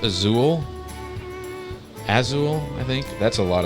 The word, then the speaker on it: Azul: I think it's pronounced Azul, I think.